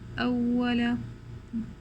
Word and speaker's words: أول: عدو عدو أول, instead of saying أول أول, we're going to give stress on the hamza.